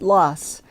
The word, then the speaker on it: Laas: their last name is spelled l-a-a-s and pronounced loss mark loss had never heard of